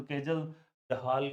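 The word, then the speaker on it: Kjeldahl: एक काजल डाल मैं तो काजल डाल कहता हूं। केजल दहाल नाम से कुछ का प्रोनाउंसिएशन होता है।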